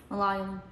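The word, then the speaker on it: Malayalam: Is that how we pronounce it? Mallayum. Malium. Malum. Uh, language. Say it, Ashley. Malum. Mallayum.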